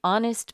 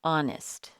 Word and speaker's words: honest: VIP number six an honest man here the H is silent so the first sound we hear is a vowel sound and honest number seven a half